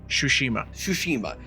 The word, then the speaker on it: Tsushima: Tsushima? Tsushima.